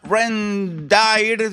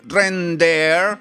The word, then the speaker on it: Rendair: Bien, la página es esta, se llama Rendire, se debería pronunciar Render.